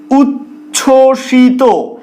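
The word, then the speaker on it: উচ্ছ্বসিত: অনুচ্চারিত থাকে যেমন ধরো উচ্ছষিত এই বানানটায় দেখো চ যুক্ত অবস্থায় রয়েছে তার নিচে ব ফলা রয়েছে এক্ষেত্রে এটা কিভাবে উচ্চারিত হচ্ছে উচ্ছষিত উজ্জ্বল বানানটা দেখো বর্গীয়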